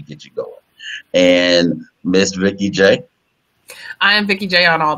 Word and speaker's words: Vikeejeah: Vikeejeah is spelled V-I-K-E-E-J-E-A-H.